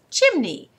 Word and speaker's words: chimney: the next word is chimney and this is where the Y makes a short Y sound it's a funny thing a short y sounds like a long e e remember we said that